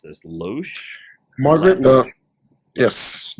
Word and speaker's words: Loesch: And then Margaret, how do you pronounce this? Loesch? Margaret. Yes, Loesch, head of Fox Kids.